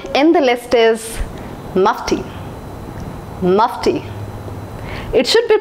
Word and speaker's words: Mufti: the list is musty Mufti it should be pronounced as Mufti Mufti is an Indian brand and most of the people think that it should be pronounced as Mukti it's not Mufti it's Mufti here's the next brand